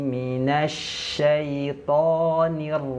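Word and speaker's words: من الشيطان: Jadi huruf to-nya ditebalkan. Minasyaiton. Tipsnya dia adalah huruf tebal, pangkal lidahnya kita naikkan, ujung lidahnya sentuhkan ke pangkal gusi.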